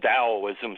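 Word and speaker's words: Taoism: there was a religion called Daoism spelled with a t yeah t a o i m right and in there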